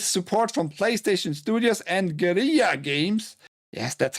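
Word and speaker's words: Guerrilla: Publisher and developer NCOFT on the license from Sony Interactive Entertainment with support from PlayStation Studios and Gera Games. Yes, that's how you actually pronounce it, has announced Horizon Steel Frontiers, a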